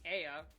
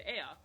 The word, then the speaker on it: Ea: They are referred to as the Ea. EA, that's how it's spelled.